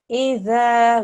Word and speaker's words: إِذَا: idha waqab. Ida waqab. Okay. Dhal idha waqab. Ida waqab. Okay. Tip of your tongue, put it between the very front two teeth, yeah? Dhal. Zal. Well done. So, idha.